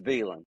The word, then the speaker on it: Velan: It's Velan, all right. It's Velan at my house. That's You call it. exactly how it's spelled. That's it, man. Like we hit them letters, okay?